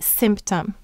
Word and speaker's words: symptom: Now notice what the vowel is in the first syllable, simp. The Y is saying the I sound, and it's acting as a vowel.